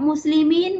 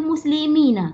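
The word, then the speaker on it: مسلمين: Sebenarnya muslimin tu muslimina sebenarnya. Tapi dia tak, bila dia bercakap dia tak payah baca, dia tak payah bunyikan na tu.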